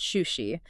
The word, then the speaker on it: Shūshi: That's pronounced Shūshi.